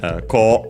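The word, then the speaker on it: こう: We also would have ko, so, and a. A is an exception, so be careful, but the other ones follow the rules. Ko, this way, should be unaccented, I think.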